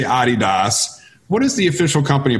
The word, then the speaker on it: adidas: the technical pronunciation is a DDoS because it's the name of our founder whose name was Adi Dassler however as you know in America we say adidas and so many colleagues